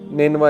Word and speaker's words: Nineveh: تو ادس نے کہا کہ میں نینوا سے ہوں۔ نینوا اس کا تلفظ ہے NINEVEH۔ نینوا جو ہے یہ عراق